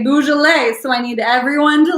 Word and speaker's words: Beaujolais: say this with me Beaujolais bosal a not boozled a okay boozy people might drink Bois delay but it is pronounced Beaujolais so that is the friends pronoun French pronunciation